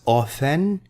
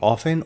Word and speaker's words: often: This can be pronounced as often, no T, often, or often, both correct.